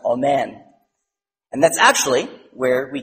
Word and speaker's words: amen: which sounds like in English spelled Allen It's pronounced amen and that's actually where we get the word